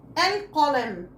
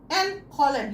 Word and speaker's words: القلم: طب تعالوا نحط حرف مش هنا، القلم، القلم، هنا في قاف. بصوا لساني لوحده بينطق ال عشان دي لام قمريه لازم تتنطق.